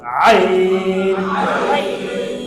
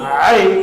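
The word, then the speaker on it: عين: গিয়েছিল এটা 8 নম্বর আইন আইন গলার চাপ দিয়া লম্বা করে বলেন গলার চাপ দিয়া লম্বা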